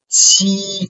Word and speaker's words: qi: that in ji, qi, similarly, qi is aspirated. Okay, aspirated, which I mean that you can feel there a stronger air coming out through your mouth when you pronounce this sound.